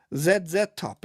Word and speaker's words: ZZ Top: ZZ Top, indeed. That's the correct pronunciation there.